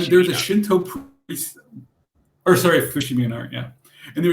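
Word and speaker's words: Fushimi Inari: went to a very large Shrine called uh ishimi Inari yes if I'm pronouncing it correctly and there's a Shinto oh sorry Fushimi and art yeah and there was a Shinto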